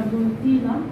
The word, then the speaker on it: botella: La materia, la botella. La botella. El doble se pronuncia como Y.